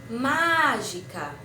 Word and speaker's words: mágica: Vou dar um exemplo. Mágica. A sílaba que se prolongou mais foi a primeira sílaba, ma, certo? Vamos falar de novo. Mágica.